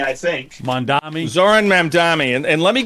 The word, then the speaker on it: Mamdani: And then, of course, in New York, you have that mayoral race with how do you pronounce his name? The socialist guy. Mamdani, I think. Mamdani.